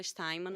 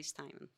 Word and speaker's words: Steinmann: Originalmente se fala Steinmann mesmo. A minha família optou por aportuguesar a pronúncia e a gente fala Steinmann. Quando os meus avós chegaram aqui, mas a pronúncia correta, original, é Steinmann.